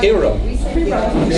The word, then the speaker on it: pierogi: So in Polish, how do you say pierogi? Pierogi. So in Polish, it's pierogi.